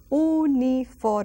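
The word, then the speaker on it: uniforme: transito and then youfor see how I pronounce that o unifor almost like Double L pronunciation in English unifor uniform a uniform you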